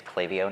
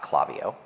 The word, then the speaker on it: Klaviyo: native folks but specifically to Addison because he pronounced the company's name right it is clavio not clavio sorry happens every time talk about a few